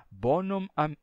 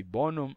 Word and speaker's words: bonum: esse erro Esse vício ou por meio da suspensão da letra m ou seja você vai até a letra M suspende a pronúncia e depois continua ou seja bonum bonum aurum ou seja bonum aurum então você trava aqui bonum aurum iustum amicum então essa forma de pronunciar é para indicar claramente que tem um M aqui bonum aurum Yum amicum